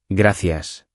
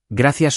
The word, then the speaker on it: gracias: Pronunciación, un detalle, gracias suena con S suave al final.